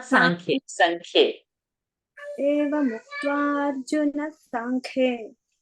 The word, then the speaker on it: साङ्ख्ये: साङ्ख्ये Sankhye.